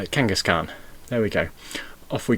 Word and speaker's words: Kangaskhan: my pronunciation consultant but this is pronounced like a genghis khan uh kangaskhan there we go off